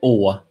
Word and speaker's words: Å: It's pronounced Å.